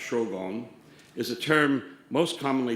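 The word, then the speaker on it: 荘厳: and quotidian zhuang yen which the japanese pronounced shogon is a term most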